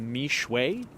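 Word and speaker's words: Mixue: Hong Kong I believe the companies pronounced mway I think I've honestly never even heard of it I'm actually curious to see if you guys have heard of the company I believe it's spelled m iix u e however the pronunciation is me now now they raised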